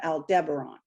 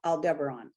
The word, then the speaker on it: Aldebaran: So this was the beings, again, from this, it's a constellation called Aldebaran. That's how I pronounce it. Some people pronounce it another way.